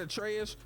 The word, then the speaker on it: Atreus: So after this, you remember when I told you that Atreus rhymes with Betrayus?